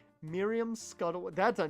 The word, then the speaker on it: Miriam: I don't know why I pronounced it Myumm because that makes no sense.